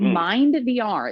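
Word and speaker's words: MyndVR: But Mind VR, it's spelled MYND VR, it uses a headset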